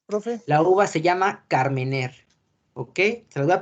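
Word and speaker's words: Carménère: Por favor, anoten, Carmener, se escribe Carmenere, uva tinta por excelencia de Chile.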